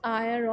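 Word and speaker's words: heir: expression जो वो लेते हैं वह है ग्रेट आया ऑफ फेम ना हो इस एन आयत साइलेंट है यहां पर अय्यर का मतलब होता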